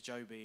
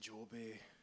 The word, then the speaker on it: Jobie: problem I have is when I meet someone Scottish and I say my name's Joby and because they pronounce it jobby and jobby in Scottish